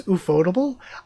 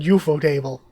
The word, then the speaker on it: ufotable: is going to be everybody says ufotable I always said eupo table like before I started hearing people say it out loud I always said eupo table um but otable is the way I hear a lot of people pronounce it uh they might be